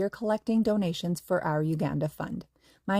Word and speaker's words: Uganda: Uh, hey, one of our other hosts, um, and, um, Becky, she has been to, and I guess I've been saying it wrong. It's not Uganda. It's Uganda.